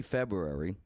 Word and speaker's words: February: I mean, this live broadcast currently, early February of 2021. Go back a year, February. It's a tough one to say. There's a second R in there. Nobody pronounces it.